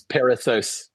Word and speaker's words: Perissos: Paul pronounced that. I knew I was going to botch that word. It's Perissos.